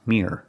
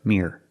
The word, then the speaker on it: mirror: The word is not pronounced mirror, mirror. I have to pronounce it with 2 syllables. Mirror, mirror.